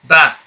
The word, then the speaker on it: ب: By firmly keeping your lips closed first and then opening them, and at the same time bringing out a voice. Ba.